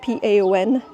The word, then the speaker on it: paon: Un paon in French, peacock, paon. Which is weird cuz it's spelled p a o n, but it's pronounced paon.